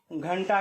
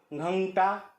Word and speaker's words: घंटा: आगे के शब्द है घंटा का उच्चारण जब भी आप करेंगे तो थोड़ा का उच्चारण करते हुए आपको इसका उच्चारण करने की कोशिश करनी पड़ेगी कोशिश करना है कोशिश करनी पड़ेगी घंटा ना की घाटा या घंटा इस तरह से इसका उच्चारण नहीं होगा यहां पर भी इसका